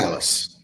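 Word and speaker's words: Matalas: Metalis.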